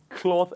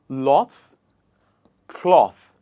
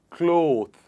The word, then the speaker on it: cloth: we go about it please repeat after me loth cloth it is not clothed it is cloth one more time cloth now let's come